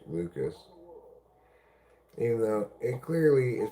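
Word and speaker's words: Lukes: Name spelled L U K E S but pronounced Lucas.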